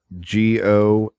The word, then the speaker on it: Gaucher: Was with the comic strip with Aaliyah Gaucher, and that's spelled Gosheh. Just in case y'all wanted to know how it was pronounced, I had to ask too.